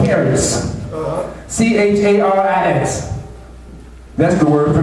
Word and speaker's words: charis: When you look at the biblical days, the word grace, which in the Hebrew is pronounced charis, C-H-A-R-I-S.